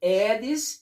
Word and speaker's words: Aedes: É Aedes, não pronuncia o A. Esse A em latim, ele não tem som.